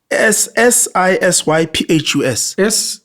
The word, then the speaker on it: Sisyphus: It's just this, I think it's called the Cyphus Curse, I think. Cypher. C-Y. No, P-H. C-P-H. How we end up? Cyphus. C-I-P-H. S-I-S-Y-P-H-U-S.